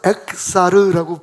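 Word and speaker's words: אֶחְסָר: 로 엑사르. 한번 해볼까요? 로는 아니다예요. 엑사르는 부족하다는 뜻입니다. 그러니까 부족하지 않다는 뜻이겠죠? 로 엑사르. 자, 에 밑에다가 키역을 집어넣으면 에크가 되잖아요. 에크. 그 다음에 에크사르인데, 그러니까 그대로 발음해서 엑사르라고 발음을 하시면 돼요.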